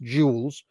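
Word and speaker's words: Jules: In San Francisco, it was Italian and French and represented by Shez Jeels, pronounced jewels, of course.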